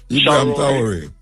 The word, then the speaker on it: Ibrahim Traoré: Do you pronounce him name Ibrahim for me, please? Traoré. Huh? Ibrahim Traoré.